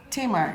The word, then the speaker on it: Tamar: she noticed that um tamar braxton has been concentrating that's how you pronounce it teamer yeah was always